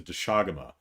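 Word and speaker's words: Doshaguma: I was fighting the entire herd of Doshiguma. Or wait, no, I think the way they're pronouncing it in the game is Doshagama.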